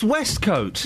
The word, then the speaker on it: waistcoat: It's pronounced Westcoat. What is? A waistcoat.